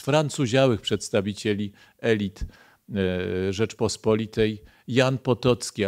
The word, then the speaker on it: Potocki: całych przedstawicieli elit Rzeczpospolitej Jan Potocki a właściwie rząd potoki bo chyba tak się go wymawia po francusku autor rękopisu znalezionego w